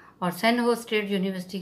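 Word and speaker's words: San Jose: recently the सेंट जोस pronounce सन होज, recently ये सेंट जोस है ना स्टूडेंट, इसको प्रोनाउंस कैसे बोलते हैं, सन होज बोलते हैं इसको, सेंट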